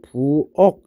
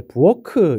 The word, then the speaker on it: 부엌: 자, 부엌이라는 단어를 발음하면 우리 쉽게 부억 이렇게 발음하게 되는데 여기서 어에다가 받침이 자, 키역은 우리 발음을 크라고 합니다. 근데 우리 발음할 때 부어크 이렇게 발음 안 하죠. 부억 이렇게 기억으로 바꿔서 발음하게 됩니다.